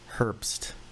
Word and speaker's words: Herbst: the cut off line it's hurt herbst yeah yeah like like riley hurts like terrible hurts to gas stations in las vegas i always say it is a silent h all right i'll say